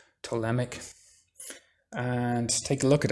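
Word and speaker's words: Ptolemaic: look it up it's called the telemic theory of the solar system that's spelled with a p pt tolemic and take a look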